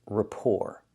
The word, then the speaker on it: rapport: So, we see the first word is rapport. The T is silent. And the second word is report. So the exact same pronunciation except for the T.